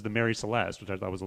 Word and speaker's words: Mary Celeste: people at the time who are pronouncing marie celeste but it's more proper to say mary celeste um yeah just a